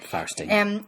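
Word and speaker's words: Fierstein: Firestein.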